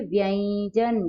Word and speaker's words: व्यंजन: व्यंजन। क्या पढ़ेंगे? व्यंजन। व्यंजन नहीं, क्या पढ़ेंगे? व्यंजन। ऐसा होता है। ज से पहले य है, लेकिन य न लिखकर ऊपर अनुस्वार लगाया है।